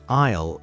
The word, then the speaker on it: aisle: product is located in aisle 3. An aisle in a supermarket is a long and narrow passageway between rows of shelves. Remember, the S in aisle is silent. Aisle. Aisle, aisle.